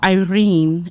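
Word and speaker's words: Eirene: Her name was Irene. And it's spelled E I R E N E.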